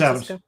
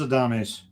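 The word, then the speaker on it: Adames: I want to say Adams, so it's probably a Dame by the way it's spelled. That's Adams. Yay! Actually, no, it is a Dame. It is a Dames.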